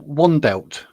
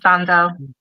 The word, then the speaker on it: Wandelt: I've been saying wandelt, like pronouncing the W and the T and it's not. It's a V in a silent T apparently like Vandal.